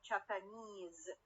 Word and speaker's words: Japanese: When I add the suffix is to get the word Japanese, the primary stress will go to where? To the stress carrying suffix اللي هي الإيز.